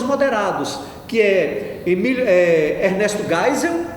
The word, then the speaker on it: Geisel: Castelo Branco foi o primeiro presidente, depois Costa e Silva, depois Médici, depois Geisel, gente, se lê Geisel, certo?